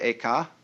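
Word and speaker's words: Eka: first the second was named aka i'm using the japanese pronunciation who was formerly a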